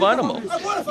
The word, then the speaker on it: Einemo: They come from all over the globe here to Pride Fighting Championships, and yep, his proper pronunciation is Olav Einemo.